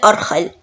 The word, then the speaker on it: Argel: The name of Algiers in Spanish matches exactly how the Spanish named this kind of horse, even though sometimes they pronounce it Arjel.